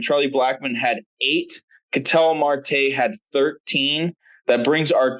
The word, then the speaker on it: Marte: I did not check martel's numbers from yesterday so Marte come on get it right at least at least pronounce the guy's name right Martel Marte it doesn't [ __